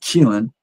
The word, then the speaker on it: Keelan: And her son, Keelan, and that's the name, that's how you pronounce it, Keelan, he played at high school at Duncanville High School in Texas.